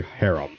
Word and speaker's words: harem: Or if you want to pronounce it correctly, harem, but I say harem.